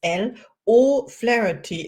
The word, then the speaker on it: Elle O'Flaherty: name is Caroline and my today's guest is l o flarey and I hope I pronounced your name right I trained how are